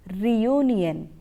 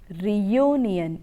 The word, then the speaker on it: reunion: EU and IO n you don't have a year sound in it but you have to produce the sound yo when you are pronouncing this word that is reunion reunion year sound distribute you